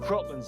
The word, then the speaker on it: Kraken: Some like supernatural gatekeeper as well, the Kraken. No. Cropland's how it's pronounced in the original Scandinavian.